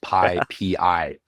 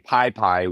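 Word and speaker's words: PyPI: official documented pronunciation is pii pii okay Pi you're supposed to individually announce the letters Pi for package index as opposed to saying piie which we said which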